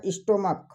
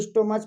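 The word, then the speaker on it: stomach: जैसे यहाँ पर कहा गया स्टोमक। अब कुछ लोग इसको स्टोमच पढ़ते हैं तो भाई गलत उच्चारण करोगे तो यस लगाओगे ही।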